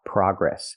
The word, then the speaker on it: progress: progress in America we use the open a sound like hot and stop PR PR progress we don't use the long o like no and go progress in America we say